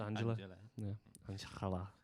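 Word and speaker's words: Anxhela: it I've got anel yeah it's pronounced Angela and it's called karma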